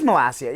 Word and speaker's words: Malacia: It is Malacia, yes. For whatever reason, somebody decided not to tell the Europa League commentators the entire match. Malacia, Malacca.